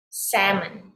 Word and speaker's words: salmon: words without the l there is l in the word however when you pronounce it when you say these words it is silent l so you say almond salmon okay so do not